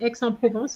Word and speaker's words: Aix-en-Provence: So this one, you have to pronounce the last letter.